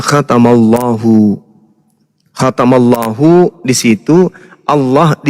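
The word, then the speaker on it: خَتَمَ اللَّهُ: Nah, di Al-Qur'an misalnya khatamallahu ini kalau dipisah cara bacanya adalah khatama Allahu. Itu kalau dipenggal. Tapi kaidah membacanya disebut kemudian makhraj dan naqhwarnya. Cara membacanya khatamallahu.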